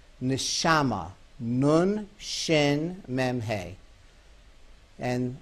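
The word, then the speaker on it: נשמה: the very same letters the very same four letters if it's pronounced neshama means soul interesting same words you go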